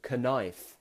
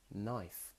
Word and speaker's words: knife: to cut with, but it begins with a K. But we don't say the K sound. We don't say knife. We say knife.